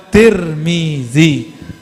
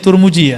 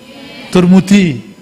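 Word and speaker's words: Tirmidhi: Riwayat Imam Al-Bukhari wa Tirmizi atau wa Turmuji. Orang sini bacanya Turmuji ya? Turmudi. Nang di.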